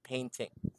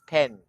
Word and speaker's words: painting: Pronunciation is also correct with just minor adjustment with the word painting. Don't forget it's painting, not pen.